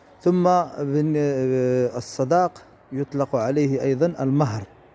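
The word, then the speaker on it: المَهر: ثم الصداق يطلق عليه أيضا المهر بفتح الميم، ولا يقال فيه مهر، لأن المهر هو ما ينتجه الخيل، أو يعني هو ابن الحصان أو ولد الحصان.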